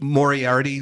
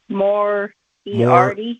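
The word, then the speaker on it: Moriarty: Mori Arti like Dr. Morardi from Sherlock Holmes. More eard.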